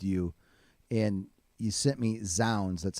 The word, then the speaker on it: Zounds: 4 albums that really moved you, and you sent me Zounds. That's how you say it, correct? Yeah, Zounds.